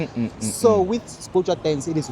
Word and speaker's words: Sbhujwa: How do I pronounce it correctly? Sbhujwa, that's It's it. bourgeois. Sbhujwa dance.